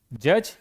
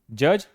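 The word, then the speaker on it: judge: से ज्ञान प्राप्त किया जज देखिए डी है डी को हटा दो जज न्यायाधीश द जज लिसन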